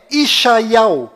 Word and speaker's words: ישעיהו: Bom, agora ficou bem claro que a verdadeira pronúncia do nome de Isaías em hebraico legítimo lá em Israel é Ishaiau.